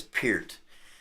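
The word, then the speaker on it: Peart: Um, yeah, without Neil, you know, Neil Per passed away. Neil Pier. Got to say it right. I always used to say per and I think it is Pert.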